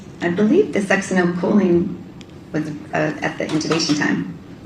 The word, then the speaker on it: succinylcholine: You pronounce it. Succinylcholine.